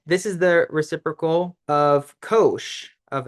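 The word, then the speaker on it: cosh: cosine function which is pronounced Kos of X like kosher yeah and it's defined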